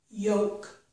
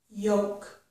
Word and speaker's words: yolk: Yolk is the yellow part of an egg, and we do not pronounce the letter L in this word, okay?